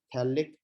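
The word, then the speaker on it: phthalic: रहा हूँ, spelling, थैलिक, नाम थैलिक है लेकिन स्टार्ट पी से होता है, सही है ना, पी साइलेंट है, थैलिक एसिड।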